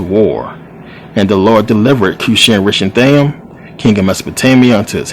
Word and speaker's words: Cushan-Rishathaim: This is how you pronounce it, believe it or not. Cushan-Rishathaim, who was the king of Mesopotamia.